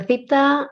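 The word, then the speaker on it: θήτα: this is the theta the theta i has the sound of the th basically if i can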